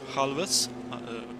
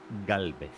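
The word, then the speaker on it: Gálvez: named after oscar and juan halwas i'm butchering those names but that's okay it's oscar and juan galvez thank you that's actually how it's spelled in spanish argentinian spanish which is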